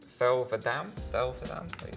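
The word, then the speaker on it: Thel 'Vadam: Okay, it's Thelvadam?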